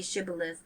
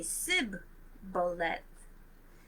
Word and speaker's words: Shibboleth: If he was from Ephraim, he would say Shibboleth because he would say Sibboleth because people from Ephraim cannot pronounce the word correctly.